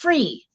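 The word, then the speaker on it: Fri: Oh, it's pronounced free. Free period. Now that makes sense. I was thinking it was fry. Okay. It's the Danish word for freedom.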